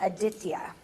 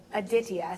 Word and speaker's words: Aditya: And so you pronounce it Aditya. So, Aditya. So my son's name will be Aditya, for those asking.